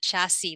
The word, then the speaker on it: chassis: That's how you pronounce that, chassis, like a car again.